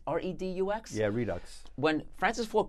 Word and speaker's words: Redux: I can't pronounce this properly. Redux? R-E-D-U-X?